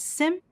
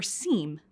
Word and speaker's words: SIEM: The acronym SIEM may be pronounced as SIM or SIEM, but we'll use SIM throughout this program.